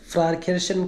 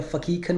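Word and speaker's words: Pfarrkirchen: फारकेशन करके बोलो या फकीखन बोलो या फकीिएखा बोलो। अलग-अलग प्रोनाउंसिएशन है।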